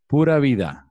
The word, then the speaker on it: pura vida: And as we say here in Costa Rica, pura vida.